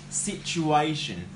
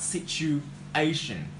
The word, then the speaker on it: situation: And guys, just remember that we pronounce situation. We put the verb stress in the 3rd syllable, and we got situation.